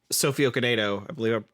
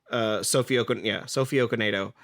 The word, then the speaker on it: Sophie Okonedo: It's worth noting that Sophie Okonedo, I believe I pronounced that right. Sophie Okonedo.